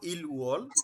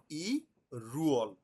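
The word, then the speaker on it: 일월: আমি লিখবো ইল আমি লেখবো ইলওয়াল উচ্চারণ করব ইরুয়াল মানে আমি ধরে নেব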